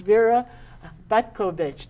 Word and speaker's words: Vera Butkovich: It's Vera Butkovich.